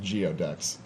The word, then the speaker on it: geoduck: build cohesion amongst the gooey ducks. So, I believe it's pronounced geoducks.